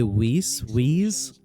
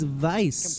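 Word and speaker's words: Weiss: Each area is people say whis we wise and vice it's it's it's vice the way the way his name is spelled is vice each revealing a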